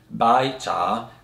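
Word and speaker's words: 白茶: white tea is pronounced by cha which is two rising tones now the word by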